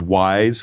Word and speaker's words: Wwise: There's Wise, which is spelled WWISE, from Audio Kinetic, and there's Fmod, and then there's another one called Fabric.